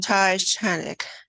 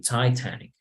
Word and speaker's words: Titanic: You need to check the T. Titanic. Titanic. Yes, so it's like like spitting the T. Es como escupir la T. Yeah, very well. Okay, Titanic.